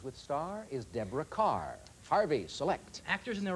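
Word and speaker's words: Kerr: Mayer said, her name rhymes with star. The name that rhymes with star is Deborah Carr.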